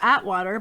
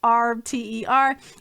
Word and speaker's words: Auwaerter: I want to say Atwater, but that's not his name. But Auwaerter.